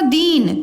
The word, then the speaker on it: दीन: मात्रा में ठीक है तो मात्रा को आपको ध्यान देना है कि बेटा देखो दीन ज्यादा टाइम ले रहे हैं ना